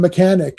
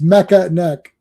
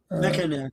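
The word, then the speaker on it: Mekaneck: That one that one guy mispronounced Mecca and he called him mechanic.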